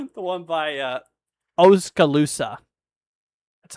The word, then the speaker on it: Oskaloosa: The one by uh Oskaloosa.